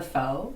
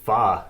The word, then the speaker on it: pho: Technically, it's pho. P-H-O.